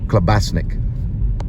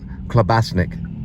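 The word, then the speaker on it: klobasnek: and they made a clasik k l o b a s NE e k that's how it's somewhat pronounced and they put a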